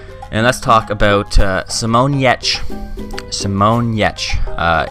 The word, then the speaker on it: Giertz: Simonyetch. It is spelled, not spelled Yetch though.